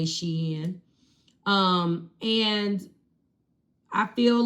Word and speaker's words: Shein: Um everybody is jumping on the Shein bandwagon on the Sheen bandwagon, however you want to pronounce it. I say Shein.